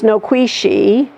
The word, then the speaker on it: Nikwasi: said, please, you guys, get rid of the anglicized version of that word and use the Cherokee pronunciation, which is Noquisi.